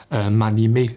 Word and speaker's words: m'animer: Par exemple, m'animer se prononce comme mani, mais ce qui me faisait penser à mai 68.